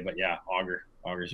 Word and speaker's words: Auger: enjoy this interview welcome to the podcast auger waste I how you say it I should